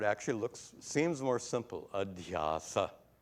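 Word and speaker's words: adhyāsa: looks seems more simple adasa adasa three syllables versus superimposition six proving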